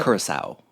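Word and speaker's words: Curaçao: know it incorporates vodka lemonade slushie blue uh Kura is that how you say it John I uh carasel carasel thank you uh old bartender here or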